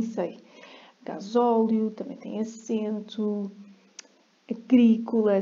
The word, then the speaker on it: agrícola: Agrícola, se não é agricola.